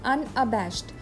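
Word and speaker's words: unabashed: अनअबैश्ड, pronunciation is अनअबैश्ड।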